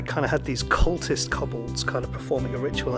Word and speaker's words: kobold: said I don't pronounce kobolds right. Do you pronounce it kobolds? Like cobalt? I suppose that makes more sense, but yeah, I've always said kobolds, so I'm going to continue to say kobolds.